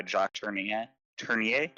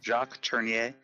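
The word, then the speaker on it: Tourneur: to point out why Jacier Turner, is that how you pronounce it? I think Touriier. Jacques Turner. I know it's Americanized to Jack Turner in some of his earlier diretorial works, but yeah, Jacques Turner.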